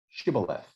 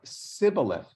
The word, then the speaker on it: shibboleth: now it happens that where gillidice pronounced the sound in certain words aphromites would substitute a s sound in those same words in this case the word for an ear of grain happened to be pronounced shibboleth by the giladite speakers and syllabus sibilith by the ephromite speakers and on this basis